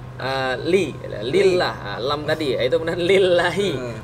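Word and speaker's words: لله: lillah lam tadi itu lillahi bacanya bukan lillahu atau lillaha berarti kalau ada orang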